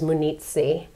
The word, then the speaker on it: Munizzi: You say Munizzi. Munizzi. I feel like I remember being told that the proper Italian with the, you know, correct syllables and everything was Munizzi. Right. But I said Munizzi. That was our... Right. And yeah, we got Well, that. I always use Frankie Muniz. He kind of helped us out a little bit. When people can't pronounce it, I'll say, you know, like Frankie Muniz, E.